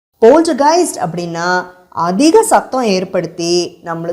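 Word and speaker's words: Poltergeist: first 1982ல release ஆன போல்ட்டைஸ்ட் உங்களுக்காக இன்னொரு தடவை உச்சரிக்கிறேன் போல்ட்டைஸ்ட் போல்ட்டைஸ்ட் அப்படின்னா அதிக சத்தம் ஏற்படுத்தி நம்மளை சுத்தி இருக்கிற பொருள்களை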